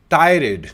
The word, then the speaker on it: tirade: Let's see, how does it pronounce? tirade, Tirade, not tirade, tirade.